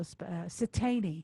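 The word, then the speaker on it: Siteine: So Satani.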